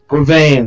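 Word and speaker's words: Guevenne: How do you pronounce his last name? Is it Guinevere? Guinevere something? Yeah. I'll be right back. Gouvain, there you go.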